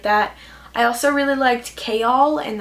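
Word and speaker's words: Chaol: I also really liked Kayal, and that's a really weird pronunciation because I thought it was Chol for such a long time. But then at the back of the book, it has a pronunciation guide, and I saw this says Kayal Westfall, not Chol.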